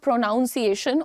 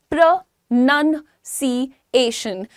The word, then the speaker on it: pronunciation: It is not pronunciation or pronunciation. The pronunciation of the word is pronunciation.